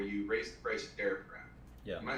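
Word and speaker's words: Daraprim: I want to hear about the night where the news first came out, where you raised the price of Darapram. Yeah. Am I pronouncing that right?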